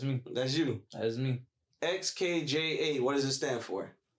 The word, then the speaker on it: Xkja: Xkja. That's how you say it. BC, everybody was getting confused with it. So it's Xkja.